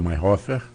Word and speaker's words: Mayerhofer: Pois é, eu tinha uma pergunta, já colocar logo tanto para você quanto para a Mayhofer. É assim que pronuncia?